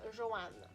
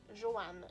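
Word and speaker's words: Johan: Dans ce roman-là, on va suivre un jeune adolescent de 15 ans qui s'appelle Joanne. Oui, Joanne. J-O-H-A-N. Ça se prononce comme le nom féminin, là, Joanne, mais bon, c'est un garçon, hein?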